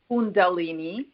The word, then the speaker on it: Kundalini: you could pronounce that calini condal it's pronounced Kundalini and Kundalini is basically